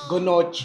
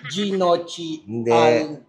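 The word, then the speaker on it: gnocchi: Sige chef walang coaching Gonochi. Hindi siya gonochi. Ginochi.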